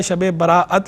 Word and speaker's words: شب براءت: کا تلفظ کیا ہے، یعنی دو طرح تلفظ اس کا درست ہے، شب براءت بھی ٹھیک ہے، شب برات بھی ٹھیک ہے۔ اور دونوں طرح